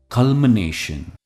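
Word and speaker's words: culmination: की तरफ जो है कल्मिनेशन कलम नेशन ने पर इसका स्ट्रेस है फॉर एग्जांपल द सक्सेसफुल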